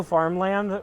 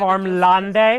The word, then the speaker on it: Farmlande: And I realized, in hindsight, that Rocco Farmland with a silent E at the end is way stupider. I didn't know the E was silent. I've read Farmlande? it. I just read it as Farmlande.